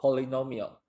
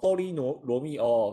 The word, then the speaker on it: polynomial: poly，好不好？polynomial。不要给我念成什么波利罗密欧，跟罗密欧没有关系哈，好不好？